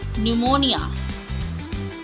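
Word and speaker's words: pneumonia: Psychic psychic psychology psychology निमोनिया निमोनिया इनमें सब में पी साइलेंट है।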